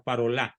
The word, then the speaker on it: Parolin: Si mal no recuerdo, es el cardenal Parolin, que les Parolin, es de origen francés, se pronuncia Parolin, se escribe Parolin.